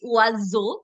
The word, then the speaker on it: oiseau: Okay, so it's always going to be oiseau because it's stuck between the two vowels.